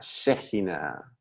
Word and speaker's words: Shekhinah: Ahí ustedes habrán visto que le puse K, Shekhinah, pero se pronuncia esta K como J, Shejina.